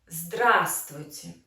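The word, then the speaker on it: здравствуйте: use the word hello drasticity so we emphasize the first syllable drastic and this is exclamation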